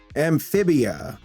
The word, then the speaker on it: Amphibia: After that, we have Amphibia. Yeah, I'm saying it right. Amphibia.